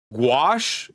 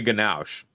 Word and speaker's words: gouache: Gouache. It's pronounced gouache. Well, someone told me ganache.